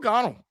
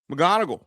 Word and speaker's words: McGonigle: Kevin McGonigle McGonigle, excuse me. Got to make sure I get all the syllables in there.